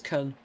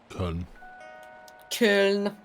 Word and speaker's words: Köln: Or just Cologne. I know it's Köln. Köln.